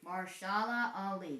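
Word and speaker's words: Mahershala Ali: Marshala Ali, that is her name. Basically, the other A is silent.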